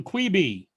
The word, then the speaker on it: Quibi: on Quibi.